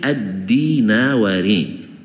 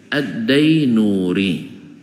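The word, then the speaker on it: الدينوري: denganainu manaang Pak Nuri katanya aslinya itu addinawari jauh adanya tulisan sama dibaca oleh guru-guru kami dulu addainuri ya ada salah seorang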